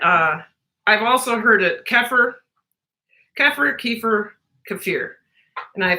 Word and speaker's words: kefir: just so you know the correct way to say that from what I understand is kefir but that doesn't fall out